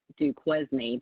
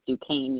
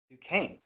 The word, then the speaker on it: Duquesne: Well, yes, and I'm actually surprised because everybody normally pronounces it Duquesne, but it is Duquesne University. Duquesne, all right.